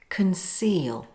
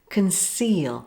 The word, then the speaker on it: conceal: Of course, there's always an exception, and that's the word conceal. In this word, the C is followed by two vowels, but it is pronounced as a soft C, like this. Conceal, not conceal.